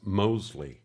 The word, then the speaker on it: Mosley: That's Mosley. Oh, yes, with a silent T. No, like I told you last time, there is no T, silent or otherwise. It's just Mosley. I understand why you think that.